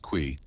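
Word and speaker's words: qi: At the heart of acupuncture is the concept of key pronounced qui.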